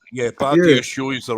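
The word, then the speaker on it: Badiashile: Yeah, Badia Shield is the right African name.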